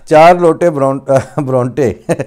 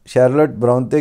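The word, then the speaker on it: Charlotte Brontë: تلفظ مشہور خلائق تھا۔ شارلٹ برونٹے کا نام 4 لوٹے برونٹے کر کے لیتے تھے۔ مشہور رائٹر ہیں انگریزی کے ادیب، تو ان کا نام شارلٹ برونٹے کی جگہ 4 لوٹے برونٹے کہہ کر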